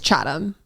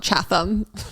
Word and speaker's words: Chatham: town in Massachusetts yeah it's chatam not Chatham Chatham wor wor desire